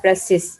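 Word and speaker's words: précis: ठीक है, तो इसका ये प्रेसी जो है, ये एक फ्रेंच वर्ड है, फ्रेंच लैंग्वेज से डिराइव किया वर्ड है, प्रेसिस, जिसका मतलब है, और ये वर्ड जिसका यानी उसकी प्रोनाउंसिएशन है प्रेसिस, और इसकी मीनिंग है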